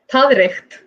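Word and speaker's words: taðreykt: Tadricht. I pronounce it, yeah. When we're talking about sheep dung in Icelandic, you say tadricht.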